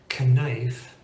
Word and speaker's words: knife: difficult to pronounce, like the silent K in knife. Knife is a little bit harder to say than just knife, or the silent G in align, a lign, a ligan.